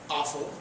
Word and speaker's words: offal: you had all that stuff called offal pronounced awful you threw it in